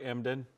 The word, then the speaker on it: Emden: Did I say it right, Emden?